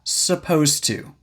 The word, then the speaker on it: supposed to: Now, supposed to. And first thing, pronunciation. We often go straight from the S sound to the P sound without clearly pronouncing the short U sound.